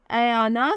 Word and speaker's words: AYAANA: नाम है अयाना, स्पेलिंग है AYAANA।